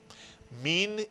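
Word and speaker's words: מִן: How will you pronounce this one vowel and therefore one syllable word? Min is correct.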